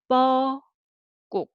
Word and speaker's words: 뻐꾹: 뻐꾹. 자, 뻐꾹. 뻐꾹. This is a sound, and so syllable by syllable.